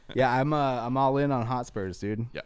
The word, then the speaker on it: Hotspur: Yeah, I'm all in on Hotspurs, dude. Yeah, Hotspurs, Tottenham. That's a good game this morning, I keep man. saying it wrong. Hotspur. It's not the Spurs.